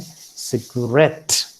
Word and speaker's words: cigarette: We also have guarantee. See, the accent does not usually fall upon the first syllable. It can also fall upon the last syllable, as you find here in guarantee and cigarette.